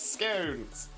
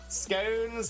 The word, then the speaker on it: scone: It's scones. Scones like stones, not scone like gone.